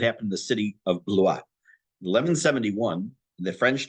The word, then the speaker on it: Blois: in the city of, it's pronounced Blois, B-L-O-I-S. It's spelled B-L-O-I-S, looks like Blois, but it's Blois.